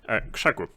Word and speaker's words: KrzaQ: KrzaQ is how you pronounce it, actually. It's a Polish pronunciation, so there you have it.